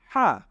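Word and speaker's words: ح: এরপরে আমরা দেখছি যে এখানে আমাদের জন্য রয়েছে হা নিশ্চয়ই হা এর আকৃতিও আমাদের মাথার মধ্যে চলে এসেছে তাহলে আমরা হা টা কি করি খাতার মধ্যে লিখে ফেলি যদি লেখা শেষ হয়ে যায় তাহলে আমরা এখন এখানে তাকাই যে এখানে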